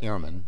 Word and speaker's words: Ehrmann: Hi, I'm Ehrmann. That's Ehrmann. Our father was always particular about the pronunciation of our family name.